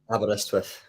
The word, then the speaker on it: Aberystwyth: Dylan, how do you pronounce it? Aberystwyth.